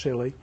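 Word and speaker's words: Si(Li): “Si-Li”s, yeah, this is pronounced “silly,” are based on silicon as the semiconductor and are widely used for x-ray work.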